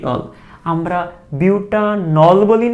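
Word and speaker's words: butanol: কিন্তু এখানে দেখো, এখানে কিন্তু আমাদের উচ্চারণটা হইতে হবে কি, মূল উচ্চারণটা হচ্ছে বিউটানল, তো এটা হচ্ছে বিউটান, এই হচ্ছে অল বিউটানল বিউটানল, তাই এখানে উচ্চারণটা বিউটান হবে, আর ইন আইনের ক্ষেত্রে উচ্চারণটা হবে বিউট।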